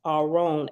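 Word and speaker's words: ארון: okay the Hebrew word or wrong pronounce our own aw Dash r-o-n-e Okay the Hebrew word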